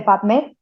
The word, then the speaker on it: PubMed: Tal cual se escribe P-U-B, publicaciones, las tres primeras letras de la palabra publicaciones, M-E-D, médicas, las tres primeras letras de la palabra médicas, PubMed, se dice PubMed.